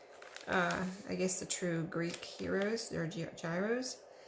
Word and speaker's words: gyros: different ways okay and I'm told the proper waited to pronounce it is Heroes which is Gyr OS and some people say gyros so just in case you don't know what heroes are their gyros either or I'm good with both right I don't care which way it's pronounced just as long as